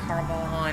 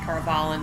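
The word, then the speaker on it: Tar Valon: Oh, what a gorgeous shot of Tarvalon, or Tarvalon, depending how you say it.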